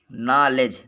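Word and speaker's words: knowledge: नॉलेज, नॉलेज means ज्ञान होता है।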